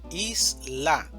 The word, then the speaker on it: isla: Seguimos con la palabra isla, isla, 2 sílabas. La mayor fuerza de voz está en is, isla.